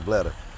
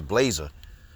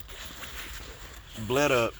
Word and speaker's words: Bleda: Because, you know, throughout the whole fight, you kept saying this girl's name is Blazer.